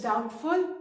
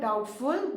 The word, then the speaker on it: doubtful: And the sentence is, it is doubtful that he will come. Remember, when you pronounce the word doubtful, B is silent.